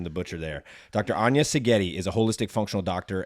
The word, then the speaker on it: Szigeti: said that correct STI sigeti the Z is silent so pardon the butcher there Dr Ana sigeti is a holistic functional